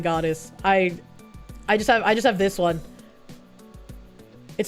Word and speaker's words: Eau: You is pronounced O, the Eau de Toilette.